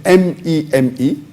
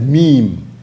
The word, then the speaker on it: meme: of the word is m-e-m-e it's pronounced as meme m-e-e-m but the spelling is m-e-m-e it's not pronounced as